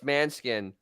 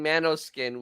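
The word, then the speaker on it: Måneskin: about a band and I probably end up pronouncing it right it's manskin and he was saying Mano skin which he's a [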